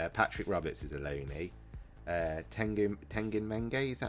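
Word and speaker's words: Teden Mengi: Tiden Mengi, that's how you say it.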